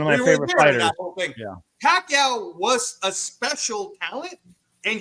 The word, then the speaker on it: Pacquiao: a time when uh Larry Merchant would pronounce his name wrong right you know payou piaia and then all of a sudden everybody knew the name Manny Pacquiao but it took development